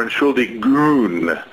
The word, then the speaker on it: Entschuldigung: Oh, it's pronounced a little different. Yeah. So it's Entschuldigen Sie or Entschuldigung.